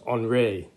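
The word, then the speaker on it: Henri: by another french artist henry matisse actually it's pronounced andre matisse in french and he came just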